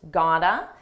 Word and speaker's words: gotta: notice how I used gotta this is a reduction It's a combination of the words got two and it's pronounced as one gotta you gotta you can